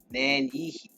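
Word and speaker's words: Nanyehi: chat Nancy watch out falling debris name is pronounced man-yi one who goes about known in English as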